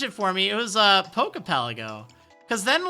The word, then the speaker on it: Pokepelago: Then a lot of people, they were, like, saying, you're mispronouncing Pokepelago. It's Pokepelago.